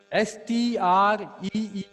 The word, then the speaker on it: street: STREET, Vaishnavi इसको क्या पढ़ेंगे?